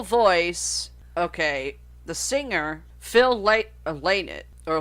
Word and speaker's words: Lynott: Okay, the singer Phil Lynott, or Lynott, however you want to pronounce his last name.